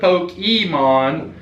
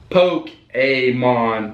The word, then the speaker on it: Pokémon: tote excuse me poke a mine instead of pokémons that's the easiest way I remember the pronunciation but our special guest star today is the incomparable poke a mon pokemon and we're excited to have him here